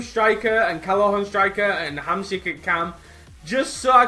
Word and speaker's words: Hamsik: Hamsik.